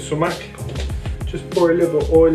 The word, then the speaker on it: sumac: of sumac in there that's how you pronounce it so mac just pour a little